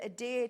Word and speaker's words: adhere: fabric and it will adhere to your fabric as well. Love how you say adear. Say it again. Adhere. Adhere. Um, it will adhere. You pronounce the H, which I love.